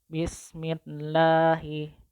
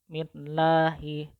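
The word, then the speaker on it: بِسْمِ اللَّهِ: Nah, bismillahi. Bismillahi. Sebelum lafaz jalalah Allah itu kan ada huruf mim yang berharokat kasrah. Maka lam jalalahnya wajib dibaca tarkik. Bismillahi.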